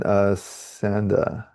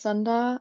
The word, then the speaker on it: Sanda: And then Sanda, Yeah, it's pronounced Sunda actually.